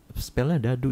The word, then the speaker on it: Dado: Ntar kalian bukan spellnya dadu ya, jangan mentang-mentang tulisannya dado. Kan bacanya Dado Talk. Dadu, bacanya dadu.